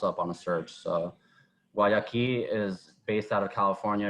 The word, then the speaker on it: Guayaqui: And I believe it was an Argentino and a Californian dude, I think, who started the brand, Guayaqui, right? Did I pronounce that right?